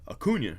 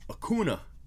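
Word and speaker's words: Acuña: uh acuna came out i used to say uh acuna right and then people were like whoa whoa whoa i heard it i heard it at the game and it's okuna and i was like are you sure because it's latin it should be a cunha and they're like no no no it was hakuna so i started saying okuna for acuna and i did that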